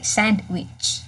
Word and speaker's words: sandwich: Okay, so you don't have to say sandwich.